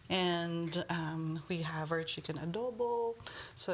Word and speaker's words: adobo: They really love adobo. How do you pronounce it again? Adobo. Adobo. Yeah. Yes. Oh, it's like adobe, but with an O at the end.